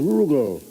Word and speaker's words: Rugal: The name's Rugal. Rhymes with Bugle.